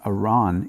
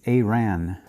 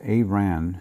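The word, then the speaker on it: Arawn: this anomaly uh 15810 uh Iran it's not Iran it's aan and uh I you have to excuse me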